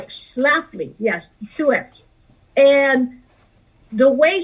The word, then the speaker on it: Schlafly: schiffly you know phyllis scheffly yeah i remember exactly thank you yeah that was one of the things you will kept mispronouncing her name yeah phyllis shaftly uh schlafly yes 2x and the